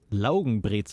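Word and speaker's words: Laugenbrezel: we invented the pretzel it comes from here log breit is actually how we call it ler is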